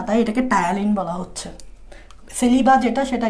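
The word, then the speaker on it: ptyalin: এই গ্রিক নামটা হচ্ছে এরকম, এই গ্রিক নামটা হচ্ছে টায়ালিন। গ্রিক নামটা হচ্ছে টায়ালিন, বাংলায় লিখে এরকম, আর ইংরেজিতে লিখে এরকম। পিটা উচ্চারণ হবে না, টিটা উচ্চারণ হবে YALIN, টায়ালিন। পিটা উচ্চারণ হয় না ইংরেজিতে।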